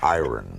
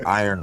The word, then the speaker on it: iron: It's iron. You don't pronounce it iron. That's what everybody tells me. It's the iron horse. Like Lou Gehrig was the iron horse of baseball. Yes. The word I-R-O-N is iron. No, iron. Iron.